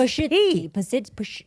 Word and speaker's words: Pazsitzky: It's Pazsitzky.